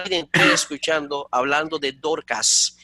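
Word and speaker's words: Δορκάς: Mira, el nombre Dorcas, que nosotros tenemos en nuestras versiones de castellana, Dorcas, es un problema porque cuando tú lo ves en griego es aguda, entonces Dorcas.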